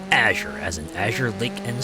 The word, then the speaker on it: Azure: name Azure I've seen I've seen people pronounce it different ways like some people say Azor some people might say azer people might say aure I think of it as Azure as an Azure Lake